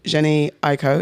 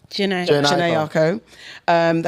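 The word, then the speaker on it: Jhené Aiko: And he spoke about his relationship with Jenny Aiko. Is that how you say it? Janae Aiko.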